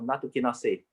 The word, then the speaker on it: nattokinase: I think that one is pronounced as nattokinase. Is it? Nattokinase, you're right, yes.